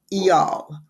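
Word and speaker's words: Eyal: called hooked and it's the author is near EOL very odd name but that is supposedly the pronunciation it's ni I uh pronounced near and last name is e y a l pronounce eal and it's about how to build habit forming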